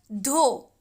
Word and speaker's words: though: ये THOUGH इसका pronounce होगा धो।